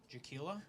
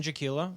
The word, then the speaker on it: Jaquilla: my name is dan jaquilla yeah definitely i want to pick that mic up okay yeah yeah sorry about that dan jaquilla uh rhymes with tequila if you're having trouble